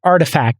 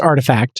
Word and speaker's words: RTFKT: an nft studio pronounced artifact it's spelt rtfkt but it's pronounced artifact the terms uh haven't